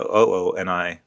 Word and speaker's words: Ooni: They went from UUNI to OONI, which they said, which is phonetically is the phonetic spelling.